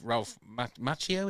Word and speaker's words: Ralph Macchio: Miyagi, because if Ralph Macchio, is that how you say it?